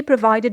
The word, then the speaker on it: provide: For example, he provided me with the necessary information. It means he gave me the necessary information. So here the verb provide, we have the stress on the second syllable.